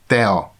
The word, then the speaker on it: tea: In Hungarian, the pronunciation follows the English spelling, and so it's pronounced teo. In colloquial language, it can be also called teo, but in both cases there's a strong accent on the first syllable.